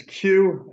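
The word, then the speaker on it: Khue: sir hello good afternoon sir would you mind pronouncing your client's name for us correctly sure it's Q um k k hu and the last name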